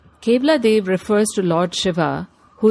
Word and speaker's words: Keoladeo: o l a d e o but is pronounced Kad Kad refers to Lord Shiva who is woried in